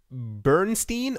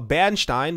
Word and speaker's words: Bernstein: next up analyst for Bernstein or benstein depending on how you say it or where you are in the world contended in a report